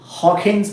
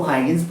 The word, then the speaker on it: Huygens: असल में ये डच साइंटिस्ट थे, तो इनका जो रियल प्रोनाउंसिएशन है वो कुछ ऐसे है कि इट्स हॉकेन्स प्रिंसिपल, ठीक है। आप इसको हाइगेन्स प्रिंसिपल ही बोलो, ज़्यादा बेटर रहेगा।